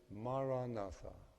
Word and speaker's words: Maranatha: So the word I recommend is Maranatha. 4 syllables. Ma, ra, na, tha.